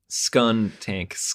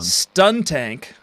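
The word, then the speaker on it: Skuntank: okay scun tank yeah scun tank like skunk that's what I said the first time and you corrected me I think everyone stun tank skun tank a skunk and it turns out I said it right the first time you wrote stun tank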